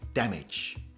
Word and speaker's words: damage: the pronunciation in english the pronunciation is damage damage damage the stress is on the first part of the word damage not damage damage my